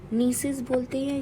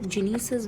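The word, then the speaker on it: gneiss: नीसिस बोलते हैं। कोई लोग जीनेसिस भी बोल देते हैं। बट नीसिस will be the correct pronunciation नीसिस।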